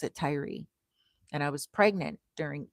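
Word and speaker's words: Tyre: It's t y re and they they some people pronounce it tier, some people pronounce it ty, I pronounce it tyrie and I was pregnant during Easter time.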